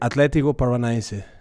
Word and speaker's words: Atlético Paranaense: How do you pronounce that club, by the way? I was trying all day today. Atlético Paranaense.